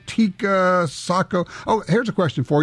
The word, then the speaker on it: Sako: re Bennett and Carrie cook from Beretta Taco Seiko Tia Sako oh here's a question for you how many